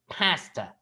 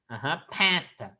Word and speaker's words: pasta: bit more nasal okay pasta pasta the sound is a bit more nasal okay from your nose